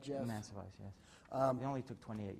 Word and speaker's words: Mancevice: Am I pronouncing it right, Jeff? Mancevice, yes.